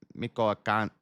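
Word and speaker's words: Michoacán: Family lived in south of Jaliscoco in the Mexican state of Miko Miko, how do you say that? Miko Mikoan Mikoan. Mikoakan, where prosecutors said the influencer's husband sold cars.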